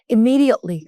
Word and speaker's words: immediately: 그래서 그럴 때 회사에서도 그냥 일 미루지 말고 즉시즉시 보고해 즉시즉시 처리할 때 immediately 강세는 여기다 둘게요. immediately라고 읽으시면 됩니다.